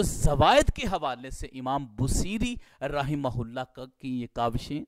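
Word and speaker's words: بوصیری: ہیں۔ تو جو امام بصیری رحمہ اللہ کا یہ لقب ہے اس کا تلفظ اور اس کا اعراب کیا ہے؟ با کے اوپر ضمہ ہے، واو ساکینہ ہے اور صاد کے نیچے زیر ہے اور یا ساکینہ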